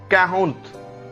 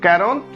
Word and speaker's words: quarante: 40 या 40 का उच्चारण हम करते हैं कैरोंत, कैरोंत। Sometime we also pronounce it एज कैहोंत, कैहोंत। So quarante will be 40.